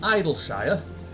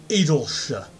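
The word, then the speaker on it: Idyllshire: Some people would insist it's pronounced Idleshire. But those people are wrong. Because it's not, for instance, you wouldn't pronounce Yorkshire, Yorkshire. It's Idleshire.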